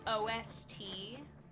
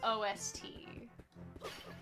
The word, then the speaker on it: OST: Uh, but like one that really does bug me is OST. Like it's OST. I always it drives me crazy when people are say ost or o for original soundtrack.